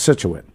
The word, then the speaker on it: Scituate: correct but we all but all of us slang it we call it it's pronounced scituate yeah but i i